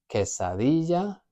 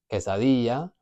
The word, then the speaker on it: quesadilla: So with that one, going back to the double L, I could say quesadilla, quesadilla, or quesadilla. All of those are correct options, just different accents.